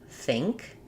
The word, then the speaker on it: think: It's one syllable. It has the ing combination, so it's an I vowel, like in it, but it'll be kind of higher and it sounds a little closer to E in ing, because my NG sound,